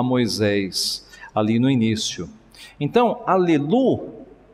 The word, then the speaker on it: Aleluia: Aleluia. E por que eu estou falando como se fala no hebraico? Porque é exatamente como está em português.